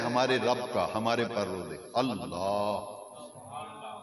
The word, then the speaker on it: اللہ: رب کا، ہمارے پروردگار اللہ۔ بعض لوگ اللہ کہتے ہیں، اللہ تلفظ غلط ہے، یہ آخر کے اندر جو ہا ہے نا، اللہ ایک ہی آواز آخر میں آنی چاہیے۔ تو رب کریم کا